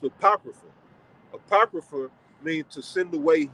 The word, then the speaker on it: apocrypha: That's an A supposed to be there, right? So that's pronounced apocrypha.